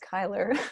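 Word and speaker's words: Chyler: I actually did not know her name was pronounced Kyler. I've been pronouncing that wrong since she was on Grey's Anatomy, apparently.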